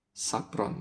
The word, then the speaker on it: Subron: Sabron tahu bacanya gimana yang benar? Sabron ya. Kurang lebih seperti itu ya.